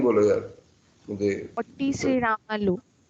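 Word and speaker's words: पोट्टी श्रीरामुलु: Spelling बोलो यार मुझे। पोट्टी श्रीरामल्लू।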